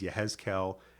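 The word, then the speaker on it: יחזקאל: Yeshayahu, Jeremiah is Yirmiyahu, Ezekiel is Yehezkel, and so we have a few things like that.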